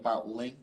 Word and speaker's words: LINQ: discussion about link link l-i-n-q I think it's pronounced link I don't know all right